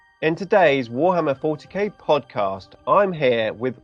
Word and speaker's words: WorHammer: Warhammer. I'm saying it like that because it's spelled with an O and not an A.